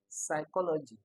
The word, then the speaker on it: psychology: No, this is psychology. P is often silent here.